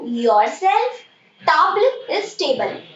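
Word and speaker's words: table: म, मी my self, ट, you your self, टाब्ल इज टेबल। Spelling देखो टेबल की सेम है, बट आप इसको फ्रेंच में पढ़ेंगी टाब्ल, टाब्ल।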